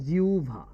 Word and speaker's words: জিহ্বা: ভুল করি বলেন তো এই জিহ্বার উচ্চারণ কি আমরা কি উচ্চারণ করি আমরা উচ্চারণ করি জিহবা আমরা জিহ্বা যদি বলি ভুল হয়েছে বলবেন জিহবা বলে হারায়ে যাবেন সবগুলোই ভুল এ শুদ্ধ উচ্চারণ কি জানেন জেনে নেন সারাজীবন তো জিব্বাই বলছেন শুদ্ধ উচ্চারণ হচ্ছে জিউভা শুদ্ধ উচ্চারণ কি বলেন